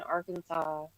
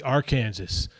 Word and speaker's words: Arkansas: I was in Arkansas. Oh, people in Australia don't like that that word Arkansas. Like that's not how it's spelled. So that's not how you say it. It should be R Kansas.